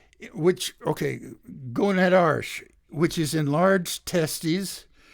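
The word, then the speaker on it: gonadarche: of age tenor 2 is onset of gonad arsh I'll spell that for you g-o-n-a-d-a-r-c-h-e I think it's uh similar to minarsh for women which okay going at arsh which is in large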